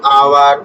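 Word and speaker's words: hour: तरह an honest man एन आवर power यहां H silent है इसलिए यहां पर एन लगेगा ऑनेस्ट यहां पे साइलेंट होता है।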